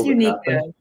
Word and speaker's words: Uniqueka: It's Uniqueka. Thank you. I kept weighing. I don't know how to pronounce it right, obviously. Thank you, Uniqueka.